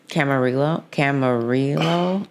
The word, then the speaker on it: Camarillo: How do you pronounce that? Oh, yeah. Camarillo. I always butcher the name, but it's beautiful because